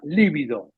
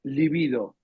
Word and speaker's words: libido: yo ahora 75 y me corrigió la palabra líbido es libido porque líbido es con acento en la primeri con b corta y significa blanquecino o moresino líbido en cambio la libido sexual viste no va no tiene acento ortográfico entendés liido sexual una pavada